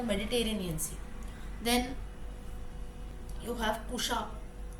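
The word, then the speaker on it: Kusha: Sea then you have Pusha k-u-s-a pronunciation is k-u-s-h-a surrounding Iran Iraq all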